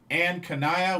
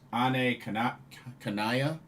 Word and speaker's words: Ane Kanaya: Had a tag match with a team of Anne Kanaya, which apparently they pronounce her name as Ane Kanaya.